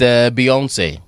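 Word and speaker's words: Beyoncé: Ile is pronounced. But yeah, it's Beyonce.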